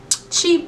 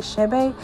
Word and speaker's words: Chebe: Y'all have been saying Chebe. I don't know the correct pronunciation, but I did Google and it's like Chebe.